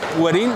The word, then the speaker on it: Güerrín: ¿Werin? ¿Werin? Werin. ¿Ha pronunciado todo el rato mal? Ni Werin ni Werin. Werin porque tiene el doble acento en la U.